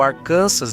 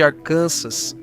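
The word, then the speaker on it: Arkansas: Ao contrário de outros estados, como Arcansas, número 49, pronuncia-se Arcansas, não arcansas, porque o nome vem da tribo Quapal, da região. A tribo era conhecida como arcana ou arcanças, dependendo de quem perguntava.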